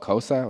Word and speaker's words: Xhosa: The language they're actually speaking is called Xhosa, which is spelled, I'm sorry, what?